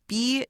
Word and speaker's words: burgeoning: It's spelled Burgeoning. Rhymes with surgeon.